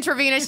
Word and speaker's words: Travina: I be seeing Travina.